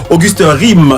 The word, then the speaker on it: Auguste Rim: Auguste Rime, c'est ça, je prononce bien. Tout à fait. C'est pas Rime, c'est Rime. Rime. R-I-N.